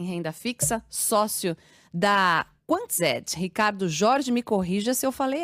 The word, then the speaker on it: Ricardo Jorge: E você pronunciou de maneira correta. O nome é Ufa, complicado, mas você pronunciou da maneira correta, sim.